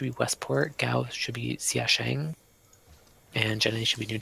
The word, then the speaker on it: Xiashing: Westport, Gao should be Xiaosheng, and Jene should be New Timbuktu. Okay, so Westport. Gao was what? Xiaosheng? Yeah, it is spelled X-ray, India, Alpha, Sierra, Hotel, India, Alpha, November, Golf, Xiashing.